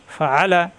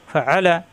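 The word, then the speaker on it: فَعَلَ: মাঝখানে চপ দিয়ে ফাআ লাম জামলা ফাআলা হরকতের উচ্চারণ তার কোন দাড়ি করা যাবে না কিন্তু এখানে চাপ হবে গলার ভিতরে চাপ দিয়ে ফাআলা ফাআলা রজবর রবে না র মিলবে বা এর সাথে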